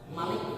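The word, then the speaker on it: مَلِك: Makanya bahasa Arabnya raja apa, Pak? Malik, pendek, dipendekin. Malik Salman. Jangan Bapak jangan bilang Malik Salman, jangan bilang. Tapi Malik Salman. Itu Pak panjang pendek.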